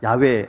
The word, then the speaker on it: 야훼: 사실은 이름이잖아요 이게 이름이니까 가장 원래 이름에 가까운이 발음이 야외입니다 야외 하나님 야훼라고 있는 것을